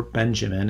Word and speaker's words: Benjamin: called presence of mind now benjamin or benjamin it's okay if you say his name the american style walter benjamin's statement was